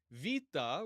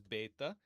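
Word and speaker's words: βήτα: Va, which is traditionally known as beta, looks like a B. So, pretty easy. Just have to remember that it's pronounced more like a V.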